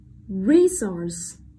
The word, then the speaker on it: resource: One, resource, resource, resource. Vậy trọng âm sẽ rơi vào âm tiết đầu tiên đúng không?